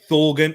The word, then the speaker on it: Thorgan: And Bobby coming in saying Thorgan or Eden Hazard. If we're going to be honest, right now, it's definitely Thorgan or Torgan. I'm sure it's pronounced. I think it's actually pronounced Torgan Hazard.